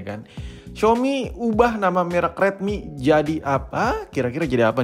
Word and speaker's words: Redmi: penulisan dengan huruf kapital Semua menjadi Redmi dibacanya sama-sam Redmi cuman lebih tegas aja gitu huruf besar semua dilansir dari Xiaomi time